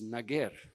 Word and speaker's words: Nager: in India and Pakistan the own pronunciation in burushaski language is nager nager nager culture and